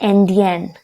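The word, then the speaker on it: indien: And the pronunciation is also changed. Why? Because n is followed by e, so we will pronounce the n. It would be Indian.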